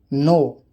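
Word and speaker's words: know: के, जब एन से पहले के आता है तो वो के साइलेंट होता है, अक्सर शुरुआत में होता है। नो जानना, नी घुटना, नॉक खटखटाना, नॉब कुंडी, निट बुनना।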